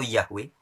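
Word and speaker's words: Yahweh: yang dalam teks ibraninya ditulis dengan huruf yogs yhwh dibacanya you've atau yahwe sang Maha ada Hai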